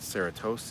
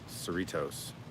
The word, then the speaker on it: Cerritos: to talk about I found out that the Sarah toast isn't called Sarah toast it's called cerritos like Doritos Cerritos so there you go